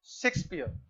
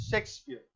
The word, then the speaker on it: Shakespeare: गलत प्रोनंसिएशन करते हैं कुछ लोग बोलते हैं शेक्सपियर उनका नाम क्या है शेक्सपियर एक्चुअली होना क्या चाहिए वहां पे तो ध्यान दोगे ये तुम लोग प्रोनाउंस करते हो इस वाले स को बट सही में क्या होना चाहिए वहां पर यह वाला स होना चाहि शेक्सपियर ठीक है तो उनका